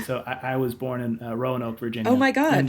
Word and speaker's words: Roanoke: So I was born in Roanoke, Virginia. Oh my God! And they put an extra syllable in there than you'd expect. Okay. It's like so it's inexplicably 3 syllables long.